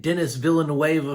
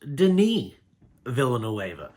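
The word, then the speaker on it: Denis Villeneuve: me try to print so I've been saying Dennis villain NOA for years and turns out it's pronounced Deni villain NOA and I don't even think I'm saying his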